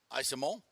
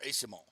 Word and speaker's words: Eyssimont: trade, bringing in Michael Eyssimont from San Jose, or Eyssimont, according to the pronunciation guide. That's what it is, but the pronunciation guide isn't always correct, I've learned.